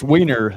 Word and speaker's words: Wiener: And I don't want to mispronounce his last name. what is your last name, brother? It's Wiener.